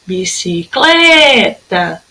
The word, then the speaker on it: bicicleta: Bicicleta. Ó, sílaba tônica é o clé. Se é a penúltima, então ela é paroxítona, tá?